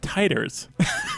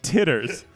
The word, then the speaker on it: titers: for like in the blood in immunity they're pronounced titers it's not titters which is why I've laughed every time you